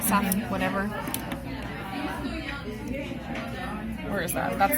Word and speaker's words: saphenous: Saphenous, whatever.